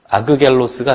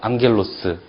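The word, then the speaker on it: ἄγγελος: 그래서 아그겔로스가 아니라 앙겔로스 이렇게 된다는 얘기요.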